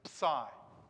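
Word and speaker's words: psi: an h this time this is a ps like lips that kind of sound right that's what that's what sound this uh this letter makes that pse kind of sound it's psy that's what it's called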